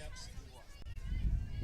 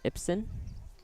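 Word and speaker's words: Ipsen: Now batting right fielder, Rylan Epson. Now batting is Rylan Ipson. It's not like Epstein. That's spelled I-P-S-E-N.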